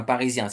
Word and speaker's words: Parisien: parissien c'est un Parisien s entre deux voyelles on prononce ça Z donc c'est un Parisien c'est pas un c'est